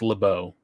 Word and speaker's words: LeBeau: at home it's LeBeau for the people at home but okay French pronounce it but all right go ahead that's true but I think I think X-Men I think the cartoon show pronounced it that way too so I feel